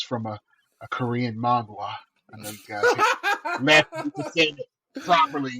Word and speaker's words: manhwa: it's from a Korean manhwa. I know you guys laughing to say it properly. It's called a manhwa.